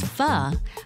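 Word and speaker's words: phở: WRITTEN AS PHO, BUT PRONOUNCED AS FUH, NAM PHOUNG SERVES IT UP BY THE BOWL FULL.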